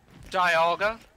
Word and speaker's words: Dialga: i really don't know how to say dial go correctly I don't think anyone does Dialga no that's the proper way um so what's all